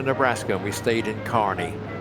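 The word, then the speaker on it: Kearney: and we stayed in Carney, which is pronounced, I mean, looks like K, but it's we the carne the the locals assured us it's Carney.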